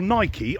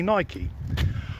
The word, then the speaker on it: Nike: are in the world you'll pronounce it Nike or Nike I say Nike Nike has also Enlisted